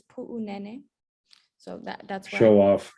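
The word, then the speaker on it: Puʻunene: before we get in the pronunciation of that airfield is puu nene so that that's show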